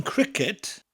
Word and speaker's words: cricket: see are i CED so we don't have the letter K in Welsh but this curse sound that we get from the K in cricket in Welsh it comes from a hard C sound wicked wicked so